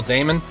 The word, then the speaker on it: Dahmen: too cheap as well I figured out how to say his name it's Joel Damon I do like him